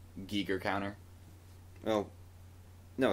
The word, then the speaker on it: Giger: tacles man mhm also it's not HR gager it's HR Giger it's how how do